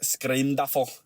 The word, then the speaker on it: Scrimduffle: That's a name you gotta say in a Scottish accent.